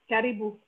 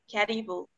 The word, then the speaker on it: Karibu: Karibu. Karibu.